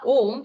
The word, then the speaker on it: Om: One of the most popular and spiritual mantra is the mantra Om, which has 3 syllables, A, U, and M.